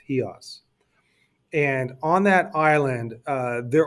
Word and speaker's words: Chios: It's spelled Chios, but it's pronounced Chios.